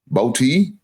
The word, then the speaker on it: Boutte: So Keyshawn, I think his name is pronounced Boutte from the Patriots, wide receiver.